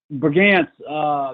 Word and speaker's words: Brigance: Or Brigance, how do you pronounce it? Brigance, Jake Brigance.